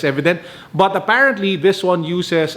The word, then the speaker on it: EVDNT: ultimate waffle or it well it's spelled evdnt i'm just spelling it as evident but apparently this one